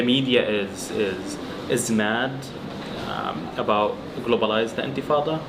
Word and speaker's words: Intifada: Like now the media is mad about globalized Intifada, or they can't even like pronounce it right. They say enchilada, infitada.